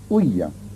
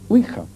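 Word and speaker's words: ouija: que otros fenómenos y sobre todo con la uya, que es así como se pronuncia. Generalmente se dice uija, pero la verdad es que i es si en francés y así se pronuncia.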